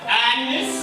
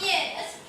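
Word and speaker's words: Agnès: This is my wife, Agnes. Oh, you know I prefer to be pronounced yes. Like they do in France.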